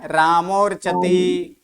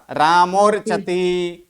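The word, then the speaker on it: रामोऽर्चति: ये क्या बोला जाएगा? रामोर्चति। तब अ का उच्चारण नहीं होगा, रामोर्चति, बालोपी, रामोर्चति।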